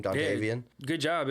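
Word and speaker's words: Dontayvion: Dontavian? Yeah, good job. It's Dontavian Wicks.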